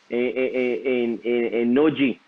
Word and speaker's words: Nortje: bowler, he talked to his cricket bowler in Noji. I think I pronounced his name right. And he did not bowl 150. Nortje.